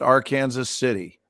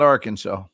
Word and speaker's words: Arkansas City: yep i'm in kansas it's pronounced our kansas city our kansas yeah arkansas nope not arkansas that's a town name arkansas or kansas city look it up let's